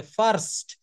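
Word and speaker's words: first: এফ আই আর এসটি এটার উচ্চারণ করতে হবে ফাস্ট এখানে একটা র আনতে হবে দেখেন ইংলিশ ল্যাঙ্গুয়েজটা এইজন্য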